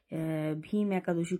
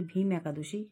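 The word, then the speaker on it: ভৈমী একাদশী: হতো তো প্রথমেই বলি তুমি প্রথমে উচ্চারণটা ভুল করেছো ওটা আমরা সবাই বলি ভীম একাদশী মানে চলতি ভাষায় কিন্তু ওটা ভীম একাদশী নয় ওটার কথা হচ্ছে ভৌমি একাদশী এটা বাবার কাছ থেকে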